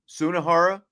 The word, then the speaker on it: Sunahara: about this guy, this Division II player, RJ Sunahara. Is that how you say it? Sunahara.